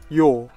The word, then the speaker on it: yaw: Oh well, crap, hang on a minute, it's not pronounced jaw, is it? Somebody mentioned that. Let me look up how it's actually called. Yaw. Okay, it's pronounced yaw.